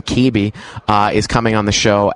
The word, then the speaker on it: Caby: Caby, and that is how you pronounce his last name, Caby, is coming on the show after the break.